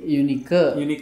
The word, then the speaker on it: Yunika: Ini bacanya Yunika apa Yunaiki sih? Yunika.